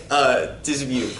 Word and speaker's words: Dismuke: It's pronounced Dismuke, right? Dismuke.